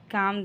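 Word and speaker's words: calm: बस शांत हो जाओ you just काम down काम में एल साइलेंट है नेक्स्ट मैं उससे खुद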